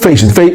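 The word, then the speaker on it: fascist: সঠিক উচ্চারণটা হচ্ছে ফেসিস্ট, ফেসিস্ট বলা হয় আমাদেরকে, তাই তো?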